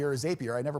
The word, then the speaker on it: Zapier: done and if I use it tool like zappier or zapier I never pronounce it correctly it will all automate not